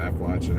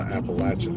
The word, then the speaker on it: Appalachian: am, they don't know that it's the Appalachian Mountains, not the Appalachian Mountains. So they pronounce it wrong.